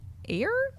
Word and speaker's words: Eyre: Giant Peach and Jane air Jane iy Jane air Jane air yeah just Jane air that's how that's how she likes to go why why didn't she